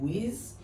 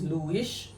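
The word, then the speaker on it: Luis: been saying andile and I've been saying Louise because that's what I've been hearing at first but now I know it's Lewis and andiley so I'm going to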